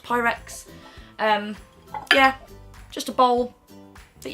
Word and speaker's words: Pyrex: I think it's pronounced Pyrex.